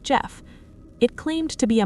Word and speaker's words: Gef: Its name, it said, was Jeff, spelled G E F, pronounced like Jeff.